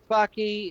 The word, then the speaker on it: Backe: I'm Backe. It rhymes with hockey.